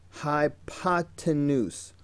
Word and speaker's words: hypotenuse: kids who can't say hypotenuse. Look at it. Look at how it's spelled. Hi-pa-ten-oose. Hypotenuse.